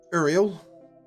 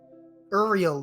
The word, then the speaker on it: Ariel: the road no early ariel ariel yes okay kind of pronounced like yeah like the little mermaid but whether you got